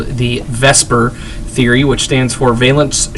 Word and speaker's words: VSEPR: two three or four all right so uh Vesper which obviously that's the way it's pronounced is is basically a theory that's used